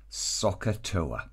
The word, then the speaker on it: SOHCAHTOA: helps us is this word looks a little bit strange we pronounce it soccer toe it is really important